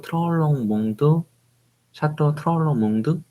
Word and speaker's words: Troplong Mondot: 구글 번역기 등을 사용하여 보면은 P가 묵음인 것처럼 샤또 트롤롱 몽드 비슷하게 발음을 하고 있는데요. 한국어로 된 자료들을 보면은 많은 곳에서 트로플롱 몽도라고 되어 있어서 약간 헷갈렸는데